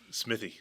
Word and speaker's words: Smithey: SMY in the house so SMY Smithy Smithy like me it's a weird name man I get it misspelled and mispronounced all the time so it's cool Smithy yeah Smithy oh I like that that's easy